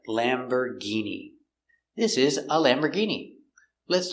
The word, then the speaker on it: Lamborghini: Lamborghini. We see it's not or, it's Lamborgh. And the G makes a hard G sound. Lamborghini.